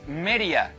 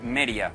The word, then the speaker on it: Meria: Venga, vamos a colocar, es Meria, ¿vale? Meria. En extremeño la D intervocálica se cae, la perdemos, ¿vale? Y se pronuncia Meria, ¿vale?